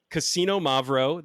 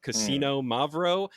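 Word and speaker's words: Xinomavro: this is a 50/50 cassino mavo that is x i n o m a v r o you basically pronounce it like gambling at a casino Cino mavo now a Greek lady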